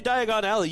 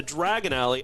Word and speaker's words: Diagon Alley: really experience I mean when you say Diagon Alley you better go to Diagon Alley because I don't know if you remember but Harry mispronounced it and then got sent to Dragon alley oh he's got his